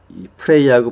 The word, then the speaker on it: pray: 근데 이제 이 pray하고 play에서 그 발음의 구분은 이 기도하다의 pray는 이거를 그냥 pray 이렇게 이제 발음하시면 되고 놀다의 play는 pu가 아니라